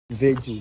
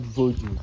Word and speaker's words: Veju: Veju, not Voju. Voju is an arrow expression by the oldest strangers that cannot fit call the name, can spell it Veju, they say Voju. Normally it's Veju.